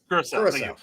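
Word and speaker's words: Curaçao: Curacao. Curacao.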